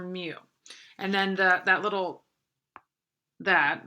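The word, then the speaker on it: μ: mean oh that's terrible that's called mu for anyone that doesn't know how to pronounce that's your mu and then that little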